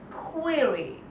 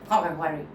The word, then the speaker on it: query: So the first one is the stress syllable quer. So if I just say that really well, even if I'm saying the next part in a very average way, I will still end up sounding clear.